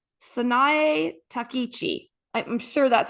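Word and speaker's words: Takaichi: Sai Takichi. I'm sure that's how you pronounce it. Takichi.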